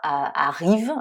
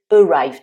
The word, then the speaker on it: arrive: Alors, bien préciser qu'on ne dit pas arrive, mais arrive. Donc là, le A se prononce avec le son schwa, le fameux son incontournable en anglais. Et ensuite, le I se prononce I, ce qui est normal puisque c'est le son de l'alphabet anglais pour la lettre I.